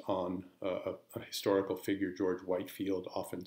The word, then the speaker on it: George Whitefield: a historical figure George Whitefield often sometimes pronounced Whitfield who was a religious